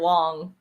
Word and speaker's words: Wang: pretty good season and it is Garrett Wong it's just spelled Wang yeah okay all right